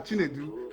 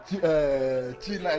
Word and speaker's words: Chinedu: You say his name not be China, not be China. Na him be Chinedu.